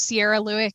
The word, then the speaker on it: Cierra Lueck: my Facebook group my Facebook my name is Sierra Leck my name is spelled c i e r r a l